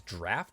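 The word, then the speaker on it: Draught: This news to me, this is not pronounced drought like I always thought. My American ways of pronouncing it is incorrect. It's, I guess, draft of Deep Focus.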